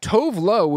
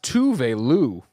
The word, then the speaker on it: Tove Lo: says, Tove Lo is pronounced Tuve Lu. It's Swedish. Tuve Lu.